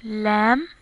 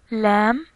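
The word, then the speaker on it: ل: Here is lam, lam. It's just like L in English.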